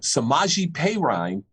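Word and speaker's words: Samaje Perine: best running back but samaji peyraine and i'm hoping i pronounced that correctly because it's the way they pronounced it last week in the game against green bay he's not playing because he's got covert 19.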